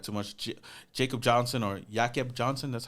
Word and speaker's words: Jakob Johnson: Jacob Johnson or Jakob Johnson, that's how you say his name, is going to be our fullback.